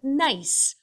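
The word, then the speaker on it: gneiss: the rock that's called nice uh the g is silent uh nice is what happens when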